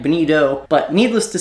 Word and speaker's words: bonito: whereas in South Florida we call them Bonita nobody calls him false albacore we actually mispronounce and say the wrong name for these fish there is a fish actually called a Bonita the Atlantic bonito but needless to say